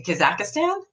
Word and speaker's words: Kazakhstan: the name of that Kazakh Stan no Kazakhstan CAHSEE Kazakhstan and I'm hoping I'm saying it right because a lot of